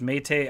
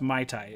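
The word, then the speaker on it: Mayte: the song um i i always feel like i'm um pronouncing it wrong but my mete i think it's meite i don't think it's pronounced mai tai it was m-a-y-t-e uh his his former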